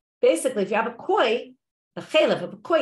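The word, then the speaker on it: כוי: By the way, some people pronounce it kvi. There's different ways of pronouncing and knowing, right? Besides that they don't know what kind of animal it is, they don't even know how to pronounce the word. I'm going to go with koi.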